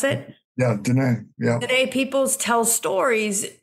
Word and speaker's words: Diné: Is that how you pronounce it? Yeah, Diné.